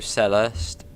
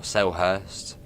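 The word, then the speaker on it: Selhurst: coach coming up through cellist or cellhurst depends if you want to say the silent h seller sell Hurst awesome Fiat through sad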